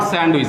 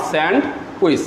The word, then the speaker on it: sandwich: He ordered sandwich, not sandwich. Here D is silent here. Yes. The pronunciation is sandwich, not sandwich.